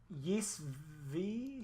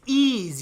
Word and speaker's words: Ys: Yes V? It's Ease, you fucking It's idiot. Ease is coming. There's a new Ease game. What do you know about Ease? Do you know anything about Ease?